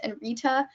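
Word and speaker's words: nritta: probably will never forget is nirtha but in the dictionary it's pronounced and Rita and as a dancer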